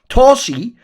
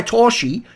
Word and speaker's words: Torzsi: far as I know like Zs is actually a letter just been written romanized obviously in hung and they say it's supposed to be pronounced like the letter s in the word pleasure so since it's pleasure I'm saying TSI cuz I assume that must be similar enough to how it is anyway this guy like